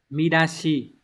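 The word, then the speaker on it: 見出し: Từ này đọc là Midashi.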